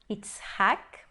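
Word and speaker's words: יצחק: Nós temos aqui Itzhak, que é uma palavra nova no nosso vocabulário, é o nome do Isaac, Itzhak. Então, aqui nós temos um A, ele é uma sílaba fechada, mas é a sílaba tônica.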